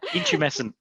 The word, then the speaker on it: intumescent: Intumescent.